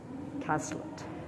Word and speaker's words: Cazlet: Roy and Caslet. Castlett rhymes with Hlet. William Hazlet.